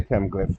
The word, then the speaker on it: Kem: This is really the chem. This is just what they call a phonetic com completion. So just let you know to pronounce the m at the end. This is chem.